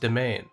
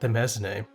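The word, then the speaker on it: Demesne: It's pronounced domain, not the mez name.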